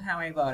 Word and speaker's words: however: Rồi chữ however này đặc biệt nè, nó gồm hai chữ nối lại với nhau, how với ever. Thì how là âm ao, ever là âm e. Nhưng từ mà khi mà nối từ hai chữ lại với nhau á, nó sẽ dấu nhấn sẽ rơi vào phần thứ hai. Chúng ta nguyên tắc ha. How, ever.